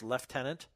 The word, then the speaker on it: lieutenant: if that's the case I wonder if that's why it's leftenant instead of lieutenant and I know fellow